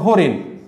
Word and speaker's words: হরিণ: কেন বাদ দিব, কারণ মূর্ধন্য নর উচ্চারণটা নর্মত হয়। খেয়াল করো হরিণ, আমরা হরিণে মূর্ধন্য ন লিখছি কিন্তু উচ্চারণে আমরা লিখবে এভাবে হরিণ।